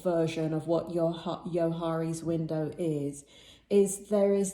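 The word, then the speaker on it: Johari's: about yohari's window and yohari's window spelled with a j o h a r i is a really interesting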